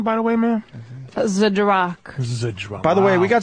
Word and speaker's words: Zdrok: How do you pronounce this beautiful last name, by the way, ma'am? Zdrok.